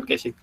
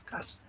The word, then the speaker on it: cache: Bacanya bukan caching, cache.